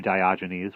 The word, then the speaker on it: Diogenes: walked up to the barrel and said to Diogenes which is how you should be printed which is how I should have pronounced it before I like you let me